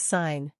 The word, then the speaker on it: sign: finally the letter G it's silent when it comes before n examples sign design n here's how they're pronounced sign is sign design is desine na